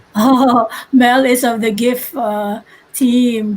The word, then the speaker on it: GIF: Oh, Mel is of the GIF team. GIF like good. The hard G team.